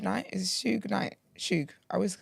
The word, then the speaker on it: Suge: Suge. I always say his name wrong.